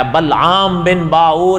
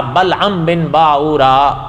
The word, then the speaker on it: بلعم بن باورا: تھا بلعم ابن باورا۔ اچھا، اس کے نام کے تلفظ میں بھی تھوڑا سا اختلاف ہے، لیکن علماء نے لکھا ہے کہ کوئی حیرانگی کی بات نہیں، یہ زبانوں کے فرق کی وجہ سے اس کے نام کے تلفظ میں فرق آیا، بلعام بن باور یا بلعم بن باورا۔ اس لیے کوئی ایک